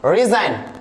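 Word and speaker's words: resign: आ रहा है, right, that's why it will silent, ji असाइन, साइन, रिजाइन, डिजाइन।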